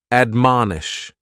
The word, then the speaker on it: admonish: is to admonish and admonish has three syllables and the stress is on that second syllable man admonish and this is a